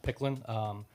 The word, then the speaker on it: PKLN: So about this time last year, I launched Picklin. It's PKLN. Okay. It's pronounced Picklin.